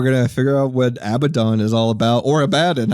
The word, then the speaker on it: Abaddon: I think it's pronounced Abaddon, isn't it?